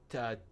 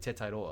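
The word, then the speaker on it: Tetairoa: I can't wait to hear everyone say Tedoa because it's not how you say his I mean maybe that's you know how Americans say his name but like Teta like it's a Hawaiian name.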